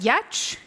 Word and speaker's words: Giertz: So my name, as you can see on these pillars, is spelled Giertz, but inexplicably it's pronounced Yetch, because I think my ancestors were just trolls.